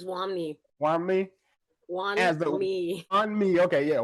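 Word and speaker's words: Wunmi: Wani Musaku, I probably killed that, didn't I? How do you say her name? It's Wami.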